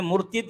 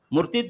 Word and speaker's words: مرتد: عام طور پر لوگ مرتد کہتے ہیں, اصل میں مرتد یہ اس کا تلفظ عورت ہے, مرتد نہیں, مرتد کہنا.